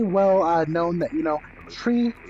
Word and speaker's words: three: But it's very well known that, you know, tree, fife, and niner. Those are the three numbers that are used when you're talking to ATC that you want to make sure you pronounce that way.